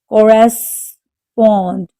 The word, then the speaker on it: corresponded: Corresponded. The stress is on the third syllable.